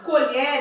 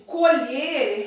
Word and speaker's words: colher: courier quando eu digo colher e a tyler de comer quando eu digo colher realizar a colheita eu escrevo da mesma forma mas quando eu vou pronunciar é diferente mas ela também com